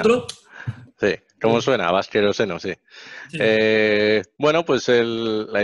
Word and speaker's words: Baskeroseno: si está mal dicho, por ahí ustedes tienen alguna pronunciación No, distinta a como suena. nosotros. Sí, como Bien, suena, Vasqueroseno, sí.